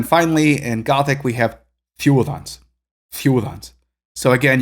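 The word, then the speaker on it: þiudans: So again, you can hear how I'm pronouncing it as a single, almost like a single cluster, not really a single vowel, but two vowels, which just makes up a single nucleus.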